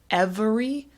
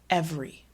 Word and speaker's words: every: with every as well we tend to say it as two syllables not every but every okay in this one